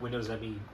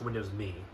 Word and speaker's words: Windows Me: drivers but I think Windows M dropped no not Windows M it's it's officially pronounced Windows me I think that dropped